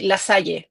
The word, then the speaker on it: La Salle: So he settled on, I say La Salle. In Spanish, we have La Salle, so I'll say it like that.